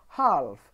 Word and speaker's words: half: the first bullet point the letter L is silent in certain words like talk half there is no L sound in these words yes I'm not saying talk I'm not saying half I'm saying talk half I'm not saying calm